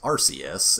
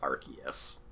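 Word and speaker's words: Arceus: the Pokemon that I commonly refer to as Rus and is actually pronounced archus so Ares and I don't know what you've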